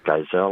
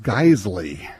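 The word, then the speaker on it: Geissele: if you pronounce it Giselle or Giselle. Actually, it's pronounced Geisley, which is weird because it doesn't look like it should be, but it's Geisley.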